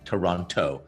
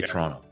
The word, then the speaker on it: Toronto: Like if you want to sound like you're from Toronto, you don't actually say Toronto, you say Toronto.